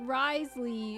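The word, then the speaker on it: Wriothesley: Because it's Rio Thessaly, so it's like Risley.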